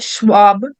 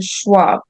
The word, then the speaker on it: Schwab: it like schnaps schnaps so there's there's names um in that are um spelled like this in the west and it's um yeah it's just is sound like she so Shep Schwab shopped